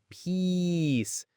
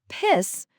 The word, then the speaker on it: peace: It's that stretched out E sound, peace. Exactly. But if you shorten that vowel, if you say piss, you're referring to, urine